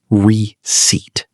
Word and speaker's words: receipt: Remember, the P is silent. It's pronounced receipt.